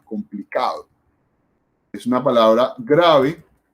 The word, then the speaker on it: complicado: El acento, la fuerza va en esta sílaba, que es la penúltima. Complicado.